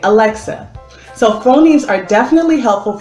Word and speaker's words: Alexa: first got this ad dustin kept saying aleja aleja and we didn't know what he was saying once i started teaching letter sounds he was able to pronounce the x sound thus being able to say alexa so phonemes are definitely